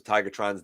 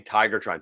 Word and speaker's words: Tigatron: My friend mispronounces Tigatron's name, but it's all because he's never seen the character. Gotta see the character, man. I'm totally guilty of saying Tigertron.